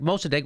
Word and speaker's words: Mossadegh: They had the first democracy, and Mossadegh is how you say it.